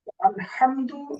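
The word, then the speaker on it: الحمد: আলহামদু এই জায়গায় হা, বড় হা রয়েছে। যদি কোনো ব্যক্তি বড় হা এবং ছোট হা এর মাঝে তারতম্য না করে উভয়টাকে স্বাভাবিক ছোট হা এর মতো উচ্চারণ করে, সো অর্থের মধ্যে বিকৃত হবে।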